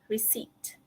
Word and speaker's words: receipt: Okay, but the P is silent. Receipt. Sama juga macam B tadi, kita tak payah tutup mulut. P kan? P. So it's receipt.